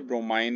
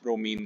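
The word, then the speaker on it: bromine: होता है राइट हा इसे लिखते ब्रोमाइन है प्रोनाउंस ब्रोमीन करते हैं ओके नेक्स्ट डी कंड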